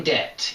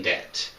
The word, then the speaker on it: debt: are in debt okay don't pronounce the b in debt in debt in the red if you're in the black it's good you're not in debt and this is because